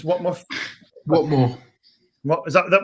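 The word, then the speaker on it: Whatmough: I think it's Watmuff. What What is that? Is that the way you pronounce that defender's name? Yeah, that's how it's pronounced. Yeah, it's a silent GH or whatever.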